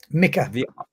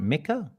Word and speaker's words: Mika: Mika. The I in Mika Ica. is like the I in Italy. But the Italy. So how you pronounce it? Exactly. Go on. It's Mika. Is it Mika?